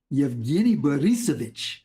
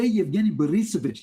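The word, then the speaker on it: Евгений Борисович: that um you know, we can call him Eugene Dinkan, but that's really not how it's said in Russia. And he wanted us to practice how to say his name in Russian. Yavghini Barisvich. Eugene Warus. Um he had us practice many times. Bob, say Yavghini Berisovich. Yavghini Berisovich. Say it 20 times.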